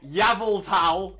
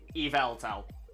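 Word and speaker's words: Yveltal: Incorrect and he's aware that's incorrect um yeah yavel towel is ridiculous it doesn't make sense it doesn't make sense now it's spelled it makes sense that it's pronounced doesn't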